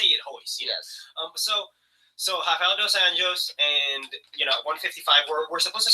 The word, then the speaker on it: Rafael dos Anjos: Yes, you have to pronounce it with the Portuguese, and they like instead of Spanish. Instead of Spanish words, like I don't know. You can you can roll your R's better, but whereas you roll it, it's ha. Yeah, it sounds like a H.